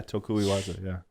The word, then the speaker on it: tokui waza: That's your tokui waza. Am I saying it right? Yeah, tokui waza.